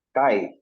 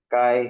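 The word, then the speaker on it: καί: ang tawag nila diyan is Erasmian pronunciation. Kai. So, ganyan. Pero Kai. may mga modern kasi ngayon, pag minsan baka naka-download kayo ng audio. Minsan ang ano nila nito is K reading. K. So parang Ah, yeah, Keologos, parang ginagano nila kasi yung pronunciation nila smooth na. So sa atin, pag binasa yeah. natin to, Kai Hologos.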